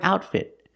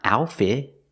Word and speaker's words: outfit: and with the word outfit both te's are stop tees it's not outfit it's outfit the t's are not silent we pronounce them I like her outfit